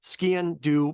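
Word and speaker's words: sgian-dubh: it's the it's basically ski and do means black knife um the way to remember it is like say like skiing but skiing do so you're kind of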